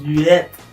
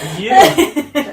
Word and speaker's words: lieu: You said luette. It's just lieu. Why are you adding so much, like, you're putting so much, like, extra syllables in there?